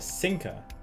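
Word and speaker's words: Psyncer: certain conditions as a sinker data uses the Ping machine P Sinker I'm guessing that's just sync that p is silent to dive into the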